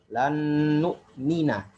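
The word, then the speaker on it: لن نؤمن: Tapi ketika kemasukan huruf lan, contohnya lan nu'mina, ya, harus dibaca dengan fathah, tidak boleh dengan dengan dhammah lagi. Kenapa?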